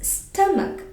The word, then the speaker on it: stomach: Here is the spelling O but it's not sound sound as O just like onion this is stomach okay so here comes